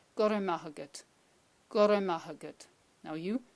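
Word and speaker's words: Go raibh maith agat: Now, that's obviously you will never say it like that. You will be saying it like this. Now, close your eyes again. Just listen to what I'm saying and then repeat. Gorra maith agat.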